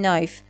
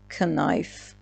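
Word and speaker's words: knife: همیشه حواستون باشه اگر حرف ک حرف ان قرار بگیره حرف کی تلفظ نمیشه پس اینو باید بگیم نایف نه کنایف نایف یعنی چاقو یا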